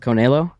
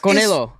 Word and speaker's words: Canelo: It's Canelo.